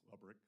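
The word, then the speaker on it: Lebryk: Am I pronouncing his name correctly? I believe it's Lebrick. Lebrick, okay.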